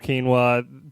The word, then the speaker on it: quinoa: It's called quinoa, point blank, period.